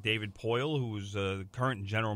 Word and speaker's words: Poile: David Poile. Poile.